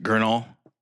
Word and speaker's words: Gurnall: And then I'm I'm reading bits and pieces of uh Gurnall. I'm probably saying it wrong, Harrison. Gurnall. Yeah, that's that seems right. Oh, I said it right.